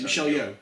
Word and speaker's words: Michelle Yeoh: Michelle Yeoh. Is that how you pronounce it? Yeah, Michelle Yeoh.